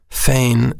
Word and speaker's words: feign: let me spell that spelled f e i g n fein means to fake or